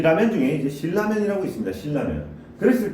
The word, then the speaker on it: 신라면: 신라면. 자, 그러면은 봐볼까요? 자, 얘는 왜 신라면이 맞느냐? 신라면 같은 경우에는 신과 라면의 결합이죠. 신과 라면의 결합입니다. 그러니까 신을 먼저 발음한 다음 연달아서 라면을 발음하기 때문에 이 라면을 발음하기 이전에 이 니은이 교체가 되지 않아요.